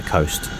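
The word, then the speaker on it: Khost: are at po Coast I'm going to say Coast cuz it looks like it's spelled like Coast it's basically ghost with a K it's very pretty and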